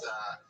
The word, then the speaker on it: pozole: No, if you look up chicken, I believe it's Pozole, and it's pronounced pozole for all you fucking gringos out there.